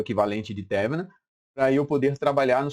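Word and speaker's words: Thévenin: Então, nosso amigo aqui, teorema de Thevenin ou Thevenin, mas aqui a pronúncia pelo acento aqui é Thevenin, beleza?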